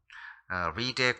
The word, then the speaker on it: read: 그래서 발음상으로는 read가 되는 거예요. 그리고 read의 과거형은 똑같이 쓰지만 발음은 read입니다. read, read 이렇게 발음을 하고요.